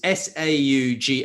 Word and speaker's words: Sauga: And so if people want to follow SaugaTalks, it's SAUGA. I always get confused on how to pronounce it, I'm afraid.